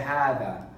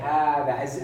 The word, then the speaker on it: هذا: We say هذا as though there is a mad there when we pronounce it. But this is the way we write it without the mad.